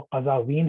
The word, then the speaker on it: قزوین: تھے یہ قزوین میں، قزاوین بھی بولتے ہیں اسے، زیادہ جو صحیح تلفظ ہے وہ قزاوین ہے کیونکہ زے پہ زبر ہے، لیکن یہ کہ اس کو زیادہ تر عام فہم زبان میں لوگ قزوین ہی بول دیتے ہیں.